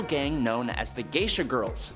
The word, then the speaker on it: Grrls: On top of his odd singing career, Johnny leads a little gang known as the Geisha Girls. That's spelled Grrls, like girls.